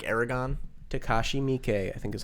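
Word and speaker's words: Takashi Miike: or takashi i forget somebody told me that when it comes to pronouncing japanese names americans tend to over enunciate the second syllable so they would say takashi mikey when it would be like takashi mikey or something like that that's just a little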